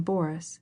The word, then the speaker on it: Boris: She pronounced the name Boris with the accent on the first syllable.